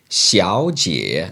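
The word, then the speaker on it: 小姐: miss well you say Xiao Jia now that's Xiao third tone Jie third tone remember though remember when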